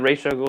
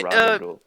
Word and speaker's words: Ra's al Ghul: Is it Ra's al Ghul or Raj al Ghul? In the There's Dark so Knight, many. they pronounced it Raj al Ghul. In the TV shows, they pronounced it Ra's al Ghul. And so I'm like, It's so I don't. inconsistent. It's so inconsistent.